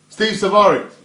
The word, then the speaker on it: Salvari: Steve Salvari. In pronounce the L properly. S-A-L. Salvari.